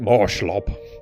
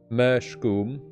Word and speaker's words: Mershgoom: Bloody reviewers calling it Marshlob or whatever. It's like they have no idea how to pronounce it. Mershgoom.